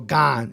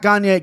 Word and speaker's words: Gane: plus 220 versus cyril gone it's gone not kanye gone minus 280. first and foremost hate this line do not know why gone is this high and